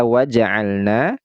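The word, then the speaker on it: وجعلنا: ke-13 walna wah wa pada kata waja'alna di sini ada Mad thai'i nah ini Alif sebelumnya adalah huruf yang berharakat fathah ini Mad Thobi'i panjangnya dua harakat Mad thii panjangnya adalah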